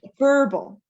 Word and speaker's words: verbal: Verbal. Good question. So you pronounce it verbal.